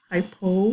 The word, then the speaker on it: hypo: Hypo rhymes with low.